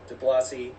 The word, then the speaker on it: DeBlasi: The Cults draft with Clark Wolf and Anthony DeBlasi. Is it DeBlasi or DeBl? How do you pronounce the last name? Yeah, De Blasi. That's I was good. doing it right.